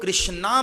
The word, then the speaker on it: कृष्ण: राम हरे हरे, हरे कृष्ण कृष्ण कृष्ण हरे हरे। जो लोग कृष्णा बोलते हैं ना, वो उच्चारण ठीक नहीं है, कृष्ण है।